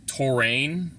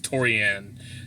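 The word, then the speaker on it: Tourian: But anyway, I actually thought it was Torrain. But yeah, then I saw it again when I beat Super Metroid again later. I was like, wait a minute, that's not how it's spelled. It is Torian.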